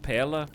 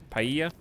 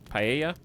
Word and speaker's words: paella: dish of sun dappled Pala how do you say that I don't know how to say that um some fish some shrooms a lemon potato paella paella it's Spanish okay that's all I